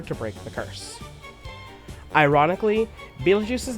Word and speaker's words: Beetlejuice: The name spelled b e e t e l j u i c e was done as as a phonetically accurate pun due to people largely not knowing how to pronounce Beetlejuice at a glance.